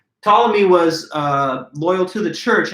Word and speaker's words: Ptolemy: One of those other figures is this man named Ptolemy, the silent P at the beginning of his name. Ptolemy was loyal to the